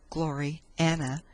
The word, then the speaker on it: Gloriana: Gloriana, pronounced as two words, Glory Anna, being the work of